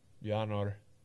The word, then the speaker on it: Bjarnor: Bjarnor, pronounced with Norse phonetics. With the Jan sounding like Jan.